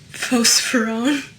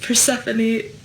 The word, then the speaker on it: Persephone: But I used to say phosphorone because I only ever read it and I never heard anyone say her name.